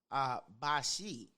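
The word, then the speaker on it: bicce: It originally comes from the Old English, bashi, and it's spelled B-I-C-C-E, and that means female dog.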